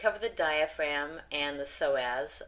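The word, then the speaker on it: psoas: the diaphragm and the so as the P is silent in that internal and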